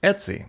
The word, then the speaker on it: etc: instead next we have the ETC folder pronounced Etsy historically this has been